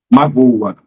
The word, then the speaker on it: magoa: interessante isso aí pessoal mágoa magoa a mágoa é um substantivo magoa é um verbo conjugado ele magoa perceberam Além